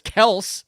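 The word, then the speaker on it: Kelce: i suppose uh well travis kelsey's telling us all of a sudden it's kels remember everybody now is back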